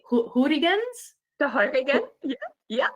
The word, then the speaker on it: Heurigen: Vienna is known for its, Kristin, tell me if I'm going to pronounce this correctly, Heurigens? The Heurigen, yeah. Heurigen?